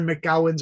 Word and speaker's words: McGowan: fun to meet other mcgowens around the world right okay who are you I'm sorry about that I'm sorry but the MC is pronounced as Mick not Mac right yeah it's Mick